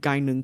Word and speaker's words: Gaignun: Like, there's one character named Gainun Kukai, and it's spelled Gaignun.